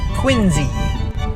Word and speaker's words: Quincy: very highly requested quincy now the c in this one is kind of pronounced like a z and i'll put that